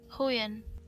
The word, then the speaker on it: Huion: Hoyen. It's pronounced what? Hoyen. Hoyen. Huion.